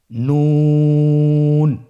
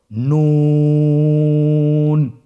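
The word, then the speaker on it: ن: আপনারা জিহ্বার আগাটা তার বরাবর উপরে তালুর সঙ্গে লাগিয়ে উচ্চারণ করুন এবং আমার সাথে বলুন নুন। আবার বলুন নুন।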